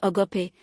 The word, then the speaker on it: agape: The Bible uses the Greek word agape, pronounced agape, for the highest form of love.